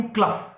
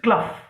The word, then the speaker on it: Clough: इसको जो the pronunciation of इज नॉट क्लॉ, इट इज क्लफ. ठीक है, जैसे ROUGH का प्रोनाउंसिएशन क्या होता है? रफ. सो we will pronounce this word as Arthur hue क्लफ.